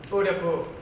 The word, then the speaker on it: Udaipur: Yep, Udaipur.